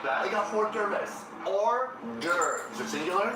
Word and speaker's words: hors d'oeuvres: Hors d'oeuvres. Is it singular? There is an S, but the S is silent. Hors d'oeuvres.